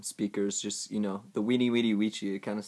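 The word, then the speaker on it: veni, vidi, vici: like a w so it actually sounds more like weenie witty witchy which uh doesn't really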